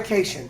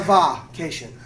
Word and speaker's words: cation: Not a cation. Not a vacation. Not a vacation. Not a vacation. I don't know how you say it, but it's not that.